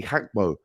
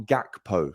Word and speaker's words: Gakpo: Liverpool and of course Cody hackmo and I am hearing you pronounce it not gakpo so that's what I'll